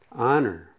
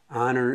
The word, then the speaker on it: honor: like a vowel like honor honor it starts with an o the h is silent so i'll give you